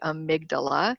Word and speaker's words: amygdala: as jeff calls it amy for short because it's spelled amy g g-d-a-l-a amygdala that's our limbic most primitive it's called animalistic